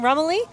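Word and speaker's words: Rumely: what's this a a r how do you pronounce this Mr Hume Rumley Rumley Rumley Rumley was made back all Rumley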